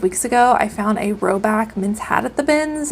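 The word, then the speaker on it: Rhoback: G4 um and that that is roback r h o back like the dog this brand has a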